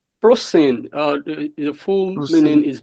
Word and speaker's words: ProSyn: Um so, let me greet every member of uh How do you pronounce this your network name? ProSine or ProSin? Uh ProSine.